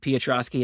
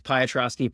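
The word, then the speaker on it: Piotroski: believe it is Joseph Petroski and I mispronounced it as patoski for like 20 years congratulations if I'm wrong but I believe it is Petroski is the way I should have been pronouncing it for the 20 years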